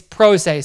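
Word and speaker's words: pro se: caught myself right there that's Pros that's not per se per se is different per se is a little different it's prosay so it's p r say easy um Miss right there on my part I apologize but it's prosay to represent oneself remand means you send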